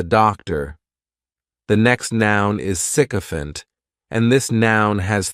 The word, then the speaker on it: sycophant: The next noun is sycophant, and this noun has 3 syllables, and the stress is on that first syllable.